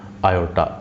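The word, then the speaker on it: iota: इसको एक नाम दे दिया, उसको कहा आई, लिखेंगे आई, पढ़ेंगे आयोटा, ये लिखा हुआ है इसका प्रोनाउंसिएशन आयोटा।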